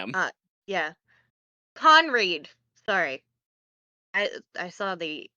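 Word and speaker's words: Conried: Uh, Hans Cored as Captain Hook. Sorry if I butchered that. Um, what a great job by Hans. Damn. Uh, yeah. Conreed.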